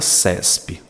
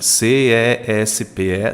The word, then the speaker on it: CESPE: por exemplo na palavra CESPE como é que você pronuncia c e s p e não você pronuncia como CESPE como se ela fosse uma palavra ou seja configurando um